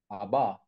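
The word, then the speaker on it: אבא: Abba. There, Say Abba. Abba, and Yes. the aleph on the end is silent.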